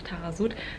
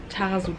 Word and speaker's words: Taghazout: auch auf jeden Fall Tarasut besuchen. Also auf alle Fälle. Ich schreibe euch mal nochmal den Namen hier unten hin, weil es wird ein bisschen anders geschrieben, als es ausgesprochen wird, deswegen wisst ihr da nochmal Bescheid.